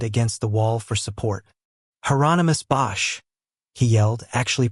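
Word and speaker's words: Hieronymus: "Heronomous Bosch," he yelled, actually pronouncing it correctly.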